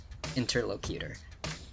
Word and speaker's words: interlocutor: every single interlocutor.